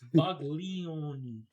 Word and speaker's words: Buglioni: I just thought you were mispronouncing baloney. No, it's Buglioni. Get it right, Jay.